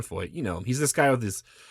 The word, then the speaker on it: Feucht: pronouncing his name, because I'm pronouncing it correct. But sometimes people say Feucht, but it's Sean Feucht.